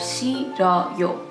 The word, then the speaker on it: 싫어요: The H is weakened and the 르 sound moves over to the second syllable, so you have 싫어요.